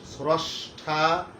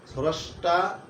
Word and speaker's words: স্রষ্টা: এবারে আরেকবার আমি বলে নেই, 1 নম্বর সূত্র শিখলাম, শব্দের প্রথমে রবানা থাকলে অকারের উচ্চারণটা ওকারের মতো হয়ে যায়, যেমন স্রষ্টা, স্রষ্টা, স্রষ্টা।